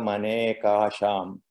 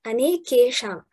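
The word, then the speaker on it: अनेकेषाम्: Pravurti bhede prayojakam chittameka manekasham. Ah, yes. The last part, anekesham.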